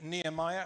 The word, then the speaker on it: Nehemiah: our current series in Nehemiah, and that is the correct way to pronounce it. I would say so. I'd say it was Nehemiah, but you feel free to pronounce it differently and be wrong.